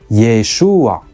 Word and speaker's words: Yeshua: but not elided entirely those residents might have pronounced it but with a helping vowel as Yeshua indeed we actually find